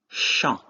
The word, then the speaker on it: chant: The first example will be chant. In this case, AN is pronounced en, which means a song.